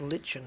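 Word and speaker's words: lichen: or Moss or something it's lyen isn't it guys it's lyen I mean I've heard people pronounce it Len but I'm pretty sure it's lyen yep it's however Mr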